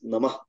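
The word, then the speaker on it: नमः: In any sentence or any word that ends in a sentence which ends in a visarga, we tend to pronounce the whole thing like namaha instead of namah.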